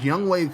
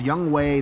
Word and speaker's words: Younghoe: So out comes Younghoe Koo. Yes, it's pronounced Younghoe, not Young-Ho.